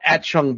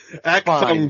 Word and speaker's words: Achtung: said Joshua Tree or At-Chung Baby. I forget which U2 album. Wait, what's it called? At-Chung Baby? Is it At-Chung? At-Chung? How you say it? How you say the words? Achtung Baby. It's German.